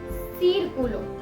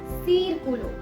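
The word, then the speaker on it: círculo: तीसरा एग्जाम्पल सीरकुलो। अब इस वर्ड में से ई के पहले भी है और ऊ के पहले भी है, तो इसीलिए हमने एक ही वर्ड में इसे दो तरीके से बुलाया है।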